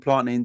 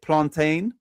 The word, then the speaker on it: plantain: If you've never seen Gillies Jolof with beef and planting, do you won't regret it.